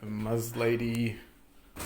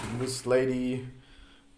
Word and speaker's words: Muslady: got so it's a muzz lady moose lady however you want to pronounce that moose lady anyway it's